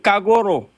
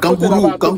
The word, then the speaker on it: Kagoro: Il faut prononcer mon nom correct, Kagoro. Attends, Kangourou. Non, Kagoro.